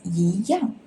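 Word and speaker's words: 一样: The meaning of 一样 is same. It is before fourth tone syllables, so you need to shift to second tone, which is 一样.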